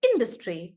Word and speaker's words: industry: to three syllables then generally the stress is on the first syllable that is why we say sofa or industry industry like that industry yeah so in the word industry we are stressing more or in and that's why